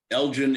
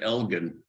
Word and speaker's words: Elgin: And Gus has told me that I have to get everybody in the city to pronounce it Elgin. Well, Which is Lord pretty Elgin might difficult. pronounce it that way, but the city pronounces it a different way.